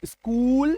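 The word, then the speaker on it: school: ठीक है, मतलब CH का उच्चारण यहां पे हमारा क्या निकल के आ गया? क। तो स्कूल, स्कॉलर, टीम।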